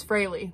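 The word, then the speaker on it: Frehley: Okay, it's Fraley. That's his name, it's Fraley.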